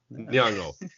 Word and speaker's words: Nyong'o: Lupita, I always forget how to pronounce her last name. How is it? Nyong'o.